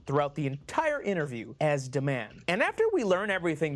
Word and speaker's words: D-Man: Pronounced Deman, as Anna says it.